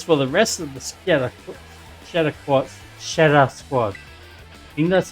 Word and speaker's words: Scheder: Oh yeah, apparently it's pronounced Scheder.